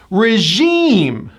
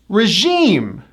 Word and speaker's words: regime: This is another word that comes from the French. The 2nd syllable gets the stress, and it also has that high E vowel. Regime. Regime.